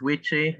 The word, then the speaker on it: Witchy: Name is Witchy. I feel like Queechy, but with a W, pronounced he, him, his.